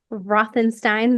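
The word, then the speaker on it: Routhenstein: Yeah, my website is my name, um, Rothenstein. The U is silent.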